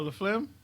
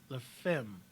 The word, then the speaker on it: La Femme: Oh, La Flim? the show. La Flim. Oh, that's what it's called? Yeah. Like Flim? Yeah. No, I'm sorry. La Femme. Oh, I always say it wrong.